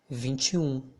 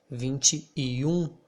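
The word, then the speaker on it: vinte e um: so this letter e here in the middle of these two numbers means end but as vinci already ends in e and then we have another e i'm gonna pronounce them as they were only one letter only one sound so i'm gonna say vinchum instead of saying vinci you or i can pronounce vinci okay so let's go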